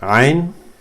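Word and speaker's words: عين: Ain is just like ha. It's the top of the just like ha, but it's from the middle of the throat. Ain. You can feel it here in the middle of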